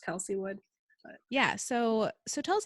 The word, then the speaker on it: Kelsey Wood: It's pronounced Kelsey Wood.